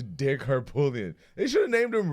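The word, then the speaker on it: Harpootlian: sounds like Harput, but then literally everybody I've heard say his name, the T is silent, so it's weird. It is not Dick Harput. It is Dick Harpoolian.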